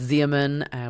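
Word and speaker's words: Xeomin: the bottle because you don't know if it's Zaman H which is spelled X EO m i n or dice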